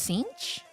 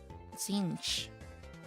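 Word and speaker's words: Tzeentch: It's Sinch? Sinch. I think that's how you pronounce it.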